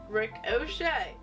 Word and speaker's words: ricochet: how to pronounce it it says ricochet pronounced rick o'shea by micro electronic systems